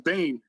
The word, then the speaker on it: Bain: His name was Bane. Bane. So Bane, like Batman Bane. Yeah. I was gonna say, okay. Yeah, but it's not spelled. It's spelled Bain.